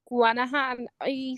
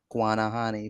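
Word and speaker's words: Guanahaní: Guanahan. Something. Guanahani.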